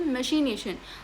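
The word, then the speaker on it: machination: इसको प्रोनाउंस करते हैं ऐसे मशीनेशन।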